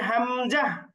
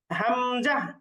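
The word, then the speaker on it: همزة: হা এর পরেরটা হচ্ছে হামজাহ হামজাহ হামজা উচ্চারণ করতে আমরা কোন টান দিব না হামজাহ পরেরটা হচ্ছে ইয়া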